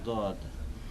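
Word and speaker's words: ض: দও নয়, জও নয়, তবে মাঝামাঝি, জয়ের কাছাকাছি, মাঝামাঝি, দয়ের কাছাকাছি নয় বরং, বা দালের কাছাকাছি নয় বরং জয়ের কাছাকাছি।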